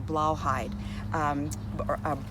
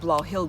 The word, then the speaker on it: Blauhilde: That was the red potted variety and the Blauhide, Blauhilde, excuse me, I pronounced that incorrectly.